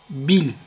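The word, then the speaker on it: بال: örnekler okuyacağız kelimenin başına bil takısı geliyor fakat bu bal şeklinde elifle yazılır okurken bil okunur bil şurada cezim le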